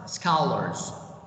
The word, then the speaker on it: scholars: does next word scholars scholars the c here we pronounce as k sound cat sounds colors okay and this word